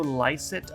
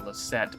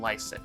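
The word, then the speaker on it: Lycett: cancer only more dire it's pronounced joe lysit okay i wasn't sure if it was lysit or leset but lysit i'll try to remember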